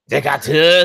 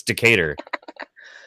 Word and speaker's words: Decatur: So I read one sign and I was like, yeah, we're on Decatur Street. Decatur. Thinking that's a very French way to pronounce it. It's like, no, it's Decatur.